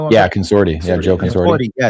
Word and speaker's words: Consorti: a good job at that is Joe Joe Contorsi. I don't know how to say his name. Joe You guys know who I'm Yeah, Consorti.